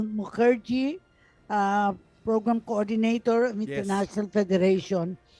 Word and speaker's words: Mukherjee: My surname is difficult to pronounce. It's Mukherjee.